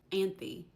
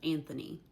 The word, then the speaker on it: Anthony: A lot of times these names would be spelled like this on their birth certificates and their gravestones. Zachary for Zachary. Anthe instead of Anthony.